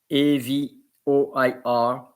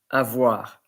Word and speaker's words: avoir: A-V-O-I-R. Avoir. It's like as if you are pronouncing A-V-W-A-R.